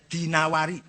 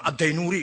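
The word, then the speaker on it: الدينوري: Ibnu Qutaibah Addinawari jam Adinuri bacanya ya dinawari jam Adinuri enggak ada kota Dainur ada Dinawar Dinawari he al-asma enggak ada asmi.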